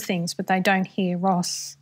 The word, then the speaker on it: Ross: we know foreigner whereas australians don't pronounce the r and so people were constantly saying excuse me and they couldn't understand when i uh said my name because my last name is ross and so for me